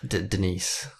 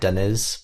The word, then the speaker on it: Denise: ] you deia yeah Denise Denise yeah and I've been saying her name wrong I thought it was like denz but it's not as Denise Denise yeah that's quite